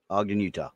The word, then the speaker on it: Ogden: Utah something like that I know how to spell it not how to say it yeah Ogden Utah um and it originally was built as part